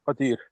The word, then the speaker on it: Qadir: In the Quran, it says it's Qadir. Okay. وَعَلَى كُلِّ شَيْءٍ قَدِيرٌ. Yeah. It's spelled Qaadir on here.